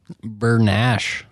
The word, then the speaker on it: Bernaiche: mutilate it as usual bernash Bern Nash it ain't spelled like that no we always call